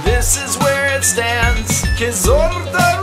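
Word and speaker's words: Kyzylorda: Quizorda region is how you pronounce me.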